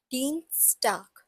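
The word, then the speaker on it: Dienstag: German Monday is mon tag monag Tuesday is teen St we should all know that tag uh tag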